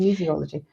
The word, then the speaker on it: kinesiology: it and i just hope i am still pronouncing it kinesiology you are you are i i do work